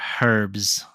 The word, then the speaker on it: herbs: okay um with her with her herbs or herbs sorry we we don't pronounce the itch that's what it is